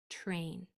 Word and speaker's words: train: I want you to pay attention to how you just pronounced the word train see if it came out as kind of a CHR sound train train try to not say that CH sound sound but to say the T with intention train instead